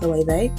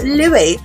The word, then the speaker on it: Loewe: And I was like, it's actually pronounced Loewe. And then she turned to her daughters like, she said Loewe, who do you think she is? It's not Loewe, it's Louis.